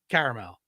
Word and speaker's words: caramel: it that would be your caramel exactly caramel three okay I don't think caramel carel those people are wrong if you're writing a high coup you can make it either one right that's the